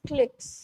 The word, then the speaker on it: cliques: ये क्लिक्स जो है ना, क्लिक्स की स्पेलिंग यहाँ गलत दे रखी है, इट्स क्लिक्स, okay, CLIQUES, क्लिक्स, ये वाला क्लिक नहीं है ना।